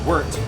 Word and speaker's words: wort: And then you leave all the solids there, and you bring that sugar water, which is now called wort, W-O-R-T, but pronounced W-E-R-T, and you throw it into your boil kettle.